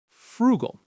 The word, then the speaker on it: frugal: Frugal. The stress is right there on that first syllable.